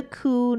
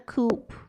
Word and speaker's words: coup: That is a coup, not a coupe.